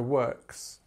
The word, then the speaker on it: works: It's ks, ks, so works.